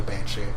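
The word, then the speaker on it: bean sidhe: If you're trying to say like the SIDHE thing, it's literally banshee. That's why that word exists. So it's spelled bean city. Yeah, but it's pronounced banshee.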